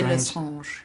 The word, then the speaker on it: Lestrange: I want to get the pronunciation right. Bellatrix Lestrange? I say Lestrange.